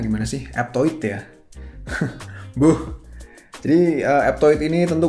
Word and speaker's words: Aptoide: Bacanya gimana sih? Aptoide ya.